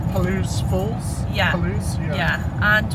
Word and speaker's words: Palouse: I think it's pronounced Palouse Falls.